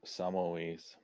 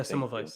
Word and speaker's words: Semmelweis: He should look into Samoes. I think that's how you say his name. Before we came up with germ theory, the guy that probably actually discovered germs before the germ dude. Oh, yeah, Semmelweis.